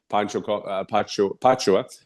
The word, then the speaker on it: Pacho: Pacho, I said it right, it came for 10 million.